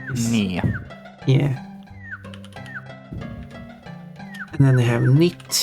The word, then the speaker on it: ny: Ny, N-Y is Nia.